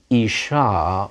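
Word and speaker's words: אִשָּׁה: In isha, a woman, or tova, good, feminine singular, the hey is just there to tell you to pronounce that ah ending.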